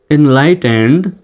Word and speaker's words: enlightened: Education, যদিও বা education বলা হয় বাংলাদেশে, সঠিক উচ্চারণ education is the cornerstone, cornerstone of এ progressive and enlightened, মানে লাইটেনেড এইভাবে নয়, enlightened society.